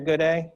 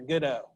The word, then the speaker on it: Gooday: i have butchered right dr gooday that's right the first time that i had the honor to do this program i got to introduce jeff and it came out as dr goodo so again uh